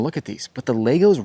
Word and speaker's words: Lego: the magical world of Lego and yeah I said it right it's Lego not Legos you know what maybe